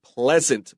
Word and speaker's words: pleasant: Afghanistan with the word pleasant please draw a mark so we remember this e a is like bread please never say please n't Pleasant okay so he wrote